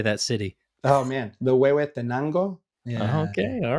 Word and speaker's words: Huehuetenango: Oh man, the Huehuetenango. Yeah. Okay, all right. Huehuetenango, I would have not been anywhere close.